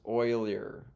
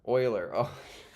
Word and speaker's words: Euler: me for a second Euler is pronounced Oiler Oiler eer sorry man my bad